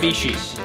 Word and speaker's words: Mitsubishi: Dude, how do I even pronounce it? Mitsubishi. Wait, you say it for the camera. Mitsubishi's.